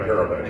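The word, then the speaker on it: Parobeck: was a short-lived book with and I can't pronounce his last name, Parabek? Frank Parabek, yeah.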